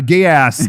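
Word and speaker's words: Geass: how do you how do you say code gear a gay ass yes oh it's gay ass and then I say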